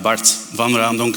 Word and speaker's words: Bart Van Raemdonck: like a polygon who am I I am Bart van Randon if you don't know how to pronounce that my name it's okay just say